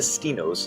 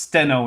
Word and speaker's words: Steno: According to Stino's statograph, it's normally pronounced steno in English, but sure, whatever.